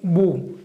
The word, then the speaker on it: mho: 그때 이제 이 옴 스펠링을 거꾸로 뒤집으면 MHO가 되겠죠? 어떻게 읽습니까, 이거를? 모.